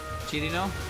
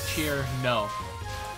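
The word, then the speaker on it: Cirno: I say it like cheer no. But it's Chirino. It's Chirino. 3 syllables. Chirino.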